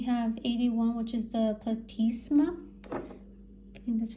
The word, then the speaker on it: platysma: and then we have 81 which is the platysma and that's how you pronounce it just down here 81.